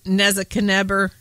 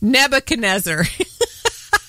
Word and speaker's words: Nebuchadnezzar: may not know about King NE neaker is that how you say it I better read his name Nebuchadnezzar you know you have